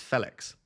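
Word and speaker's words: Félix: pronounced the same as the Fe in feather Felix so it's Felix God I'm butchering this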